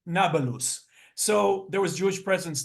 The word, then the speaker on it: Nablus: of Shem to Apolis which the Arabs without without the ability to to pronounce p call it nabalus so there was Jewish